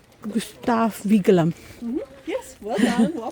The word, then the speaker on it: Gustav Vigeland: Gustav Vigeland. Gustav Vigeland. Yes, well done. Well pronounced.